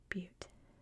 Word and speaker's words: Bute: This right here is Bute. It rhymes with cute.